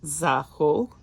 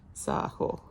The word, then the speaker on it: Zaho: She says it's pronounced Zaho. Hopefully that's correct. Ho as in Oklahoma, she says. Zaho.